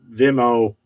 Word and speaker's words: Vimeo: how to pronounce it it's v vimeo it's not venmo the money app but it's vimo the uh it's like youtube it's another video thing but it's on demand